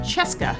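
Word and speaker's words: Scieszka: that wonders, it's John Cheska. It's pronounced like Fresca, he tells me. Or well, he tells the internet, not me personally or anything. Although he has been to Delaware. Cheska came to Delaware a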